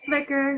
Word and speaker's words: Flickr: that i think i don't even know you pronounce i know it's failed flicker or flick or whatever it's flicker you're right okay so there's a lot of